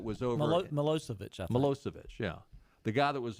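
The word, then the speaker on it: Milošević: Milosevic, is that how you pronounce his name? Milosevic, the guy that was over Milosevic, I think. Milosevic, yeah, the guy that was over in Serbia and Yugoslavia.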